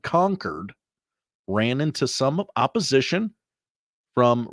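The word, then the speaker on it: Concord: and other state symbols Gallagher whose preferred pronunciation resembles the word conquered ran into some opposition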